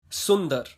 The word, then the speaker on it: सुंदर: Yes, so today I'm going to tell you how you can pronounce these hard words, and don't worry, I'm going to make it easier for you. Sundar, beautiful.